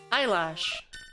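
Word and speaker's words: Eilish: it it is it's not spelled eyelash but it is pronounced eyelash T to keep the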